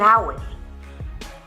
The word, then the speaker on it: hour: Se pronuncia en delante de palabras que comienzan por vocal o por H que no se pronuncia. Ejemplo, an hour, an orange, una naranja, an envelope, un sobre, an heir, un heredero.